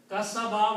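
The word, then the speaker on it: كَسَبَ: So the rule is that if you stop, don't pronounce what is on the last letter. Masadin will become masad. Tabba will become tab. Okay? Kasaba will become kasab. One ba, not kasab. Just one ba.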